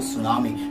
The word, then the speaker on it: tsunami: क्या आप जानते हैं सुनामी एक जापानी शब्द है जिसकी शुरुआत टी से होती है, लेकिन फिर भी हम उसको सुनामी मिस एस करते हैं, बिकॉज़ टी यहां पर साइलेंट है।